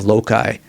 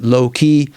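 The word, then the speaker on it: loci: on the method of loai. Sometimes people pronounce it low key and both actually work. According to my colleague in learning, Luke Reineer, who specializes in Latin, he says, "Loy, Loki."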